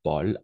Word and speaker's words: Paul: très bien oui et on va prononcer ici Paul d'accord Paul a eu a u o toujours à plus U o